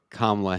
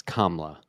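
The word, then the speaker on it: Kamala: to do this oh you're probably still saying kamla Harris's name wrong it's KLA we got to do this I say it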